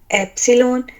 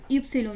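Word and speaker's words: Ypsilon: R, R, S, T, U, वाव वे एक्स एप्सिलॉन set asset एमलॉट ए ए ओ you, sorry जबरदस्त निर्मल, आपने बहुत अच्छा सुनाया। बस यूप्सिलोन इसको बोलना है, यूप्सिलोन।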